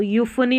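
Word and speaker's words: euphony: यू, यू पढ़ेंगे तो यूफनी बन गया, यहाँ पर देखिए उच्चारण है यूफनी, पीएच जो है ना इसको फ पढ़ा है।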